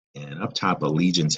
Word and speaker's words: allegiance: And up top, allegiance has what is called a soft G sound.